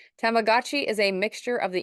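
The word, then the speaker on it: Tamagotchi: Sharon so you just tell me how to pronounce it is it tamagachi yep Y tamagachi is a mixture of the English word for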